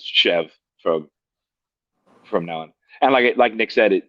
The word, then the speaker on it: Chèvre: are facing forward, the the two letters that are reversed are silent. Now you know it's chev from from now on.